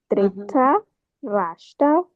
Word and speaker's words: Dhritarashtra: R I T A R A, Dhritarashtra uvacha. Oh, I don't have an I. Okay, yeah. No, it does not appear there, but since it's Sanskrit, that's how you pronounce it.